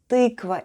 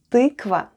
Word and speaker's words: тыква: Тыква. Тыква. Let's spell the word тыква. The first sound is t, then we have y. Try saying e while pushing the tongue to the back of your mouth.